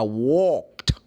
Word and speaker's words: walked: said she said I walked when she said walked is Ed cu the last letter of walk is in work it's the letter K but the sound is voiceless and then she used